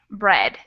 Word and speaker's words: bread: say and neighbor neighbor but bread actually doesn't have that diphthong in it it's that e bread e and it's pretty irregular usually that e a makes a different sound but in this case